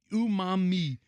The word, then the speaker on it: umami: It's umami.